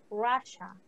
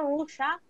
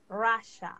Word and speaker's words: Russia: La pronunciación es Russia, no Rusia, Russia, okay?